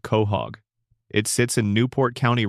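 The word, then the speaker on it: Quahog: The name is pronounced Ko Hog, and it is the name of a clam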